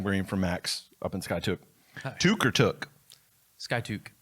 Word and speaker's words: Skiatook: you're from outside of Skiatook, it's Skiatook. Yep. So when I first started out there, I called it Skiatook, and eventually people are like, if you're going to be from here, you need to say it right.